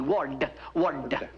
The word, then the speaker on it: Ward: me yeah you see I pronounced my name w-a-r-d w-a-r-d word yes I am addiction